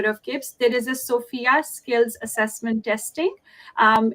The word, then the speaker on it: SFIA: kipps there is a sophia skills assessment testing um it is written as sfia but pronounced as sophia so that kind of